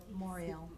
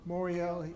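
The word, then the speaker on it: Morial: Moriel. Moriel, and I'm sure most of you have seen him on things like Meet the Press and other things.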